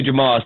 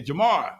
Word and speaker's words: Jamar: We got two Jamals. Thank you, Jamal. My name is spelled Jamar. Oh, okay, Jamar.